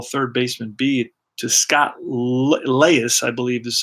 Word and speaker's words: Leius: a ground ball third baseman beat to scott leius I believe this is how you pronounce his name picks it up fires across